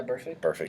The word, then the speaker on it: Burfict: Yeah, Burfict.